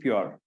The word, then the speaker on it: PYOR: are trying to do with PR that's how we pronounce it you know is that